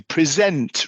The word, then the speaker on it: present: We don't presentate, we present. We present, right? With the sent the second syllable, right? So often with some words and verbs, the noun the emphasis is on the first part. So the pre if it's a noun and if it's a verb then it's on the last bit.